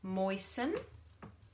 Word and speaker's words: moisten: Moisten. Go and take that washcloth and moisten it with water. Can't hear that T, can you?